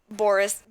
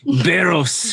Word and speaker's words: Barros: Well, it is your turn, Boris. How do you say it? I'm sorry. Boris? Barros. Barros, I'm sorry. It's like barrels, but without an L.